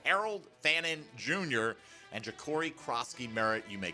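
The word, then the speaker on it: Croskey-Merritt: Oh, they did just because nobody wanted to call him Ja'Cory Krosky-Merritt. Like, I still see people who call it Crossley or Crosty. Like, they still are getting the last name wrong.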